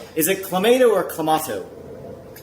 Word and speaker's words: Clamato: Oh, you're saying it's clamato juice? Clamato.